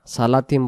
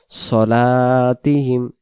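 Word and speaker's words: صلاتهم: সলাতিহিম সলাতিহিম সালাতিহিম পড়বো না সালাতিম বললে সরটা কি হয়ে যাবে সিন হয়ে যাবে এটা হল সিন সিন জবর সা আর এটা হল সদ সদ জবর সদ জবর স হাইয়া আলাস সলা সদ অক্ষর সলাতিহিম নামাজের কথা বলছে তাহলে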